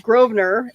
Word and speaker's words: Grosvenor: then we have uh grosvenor and with a with an s in the word but you're not supposed to pronounce the s okay i i think